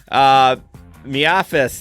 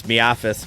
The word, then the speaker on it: MIAFS: Miafis, that's the name we made it. We made it it's Miafis, but that's just the gig economy pronunciation.